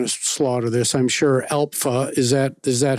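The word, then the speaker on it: ALPFA: Alpha. Is that Is that how you pronounce the Alpha?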